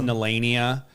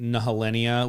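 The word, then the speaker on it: Nehellenia: I think it's Nelania. Okay. And I kept saying Nahalenia, which I mean, I was just giving the pronunciation of what I was Okay, reading, yeah.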